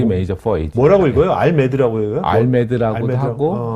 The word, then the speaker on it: RMAD: 뭐라고 읽어요? 알메드라고 해요?